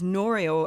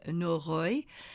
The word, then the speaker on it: Noreuil: so there we are we have it as noral and it's interesting because it's not pronounced like that at all um yeah what what is the pronunciation again so the pronunciation is norroy really tricky um and that was noted I've